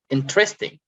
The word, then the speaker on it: interesting: So in, you stress on in, interesting.